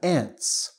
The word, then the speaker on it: ants: Next, we have ants. The same pronunciation like your aunt, which is, you know, the sister of your father or your mother.